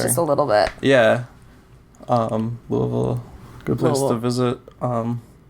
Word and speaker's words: Louisville: I always say as if you've had a couple shots of whiskey already. Oh, yeah. And you just kind of slur your words just a little bit. Yeah. Louisville, good place to visit.